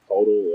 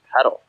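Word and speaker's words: Poeltl: Was it Podol, or how do you say it? You know what I'm talking? Yeah, it's Pedal. Pedal?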